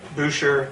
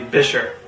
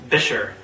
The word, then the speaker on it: Buescher: you a 1929 bisher trone and yes it's pronounced bisher not bisher not berer not Basher not buer as I've heard it said but actually bisher and I know this because there's actually old